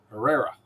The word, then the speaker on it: Herrera: Just holler at me if I say your name wrong. Herrera.